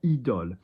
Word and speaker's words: idôle: Not idôle, idôle. O is higher, idôle.